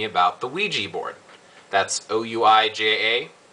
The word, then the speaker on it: Ouija: pegan asked me about the Ouija board that's o UI J A it's pronounced Ouija and he says hello Blaze not